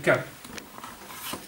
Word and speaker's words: Quint: Il y a une famille actuellement qui s'appelle Quint. On prononce comme ça.